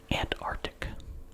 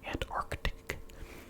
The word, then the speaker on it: Antarctic: Antarctic. Now, notice I did not pronounce the first C. I tend to leave that out, and I tend to think it is generally, for most people, silent.